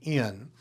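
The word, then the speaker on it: ἐν: If it's a smooth breathing, for example, epsilon new would be in. If it has a rough breathing, it would be hen.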